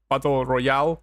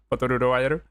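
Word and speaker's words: バトル・ロワイアル: The movie in question is called Batoru Royaru, or Battle Royale, if you want to pronounce it in English. But I mean, in Japanese they pronounce it Batoru Royaru, and it's the movie where the expression Battle Royale comes from.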